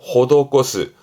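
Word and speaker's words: 施す: 발음은 호도꼬스.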